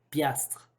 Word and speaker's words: piastres: ce qu'il faut dire si vous voulez le prononcer correctement piastres donc les piastres se